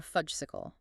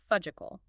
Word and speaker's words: Fudgesicle: But she doesn't refer to it as a Popsicle or a Fudgesicle. She hilariously, and with complete deadpan earnestness, pronounces it fudgical.